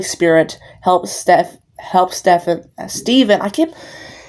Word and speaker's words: Stephen: helps step helps Stephan Steven I keep his name is spelled s t e p he n sounds like Ste it looks like Stephan but it's Steven stepen was saying bad